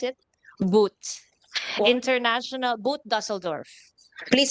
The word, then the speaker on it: Boot: How do we pronounce it? Boot.